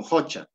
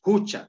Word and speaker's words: jucha: hay contexto de Ja Entonces esto la pronunciación es hucha O sea no va